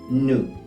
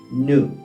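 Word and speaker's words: nous: en francés se dice nu nu te habrás dado cuenta que la s no se pronuncia al final y es importante porque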